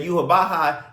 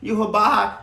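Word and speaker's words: Yhwach: And first off, let another thing another thing, Yuhabaha is not even spelled like Yuhabaha sounds. Like, it's not even close. I think it's like Y W A C H or something like that.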